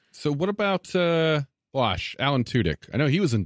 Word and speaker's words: Tudyk: I always pronounce it Tudyk. Is it Tudyk? I've always just said Tudyk. Okay. Yeah, it's Tudyk's.